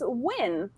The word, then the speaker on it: Nguyen: over the world so how do you say this last name and he was like oh that's win right so wait wait for